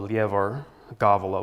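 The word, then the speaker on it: Lebor Gabála: Irish it's called the leav gavala with the emphasis on the first syllables.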